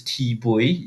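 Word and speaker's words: Thi Bui: by a vietnamese refugee i think her name is t bowie if i'm saying it correctly t h i uh b u i um and and the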